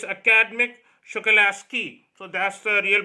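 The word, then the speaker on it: Akademik Shokalskiy: So it's Academic Shokalasky. So that's the real pronunciation.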